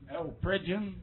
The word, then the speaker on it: Pridgeon: Pridgeon. Pridgeon.